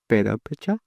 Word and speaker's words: Purépecha: I also paint a lot of our traditional flag, the purépechas, and even painting that is such an honor that I'm able to do. And I tried to pronounce that word. Purépecha?